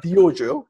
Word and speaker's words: Dyojo: john isakson of the diojo and that's spelled d-y but it sounds like dojo so yeah yeah so